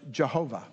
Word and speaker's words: Yahweh: the name of god yahweh sometimes it's pronounced jehovah it was the name